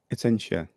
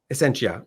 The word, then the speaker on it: Essentia: And forgive me if I pronounce it wrong, but is it the Essentia Foundation, or is it Essentia? Essentia. Essentia.